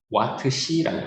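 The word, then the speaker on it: Wh: 대문자 W와 소문자 H라고 쓰고요. 읽을 때는 와트시라고 읽습니다.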